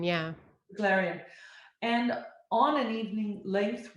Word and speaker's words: Beglarian: Larian, yeah. Beglarian.